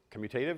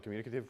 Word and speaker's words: commutative: And that's commutative, I think is how you actually pronounce that, but I always call it the communicative property because apparently I'm bad at pronouncing things for most of my life.